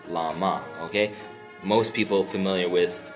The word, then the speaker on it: བླ་མ: So it's just La, and then we go to the last syllable, Ma, right? So this word is Lama, okay?